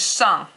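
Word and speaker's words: 上: The next word is shang. Shang, and I'll write that in the bottom here. Shang means on top of. And it is also fourth tone.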